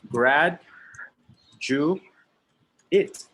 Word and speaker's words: graduate: to graduate to graduate it sounds like this grad jew eight graduate and then we also have a noun a graduate the pronunciation of this is grad jew it what is the difference